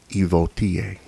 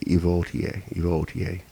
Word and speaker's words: Ivoti: And so the singular, you have IVOTI, Evotia. Now you can say it Evotia. You can say it Evotia. It's a little bit more technical, in the pronunciation on the second one, Evotia.